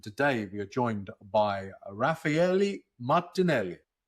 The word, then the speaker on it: Raffaele Martinelli: I'm your host, and today we are joined by Raphaeli Martinelli. That's amazing. First of all, great pronunciation.